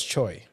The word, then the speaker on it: Tso: General Tao chicken general's chicken it was actually pronounced General's Choi General Choy chicken really yeah the